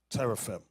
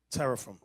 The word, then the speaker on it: teraphim: Teraphim. Look it up over here. Teraphim. Show them how to spell it.